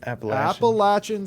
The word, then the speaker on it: Appalachian: Appalachian State, exactly. Appalachian State. We have a saying here in the South that if you say Appalachia, I'm going to throw an Appalachia.